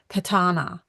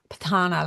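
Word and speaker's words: Pirahã: wrong but I I'll it's spelled p i r a n h a with a little wiggle and um they say it like patana patana like it has a te in it like patana from the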